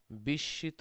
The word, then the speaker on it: বিস্মিত: বিস্মিত, এই শব্দটির উচ্চারণটা হচ্ছে বিস্মিত। এখানে মফলার নিয়ম অনুযায়ী উচ্চারণটা হয়েছে।